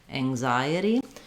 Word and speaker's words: anxiety: Then we have the letter I saying the I sound. I've rewritten that here with IGH like we have in right or night. You can think about it just as I, like as in I am, or it's the same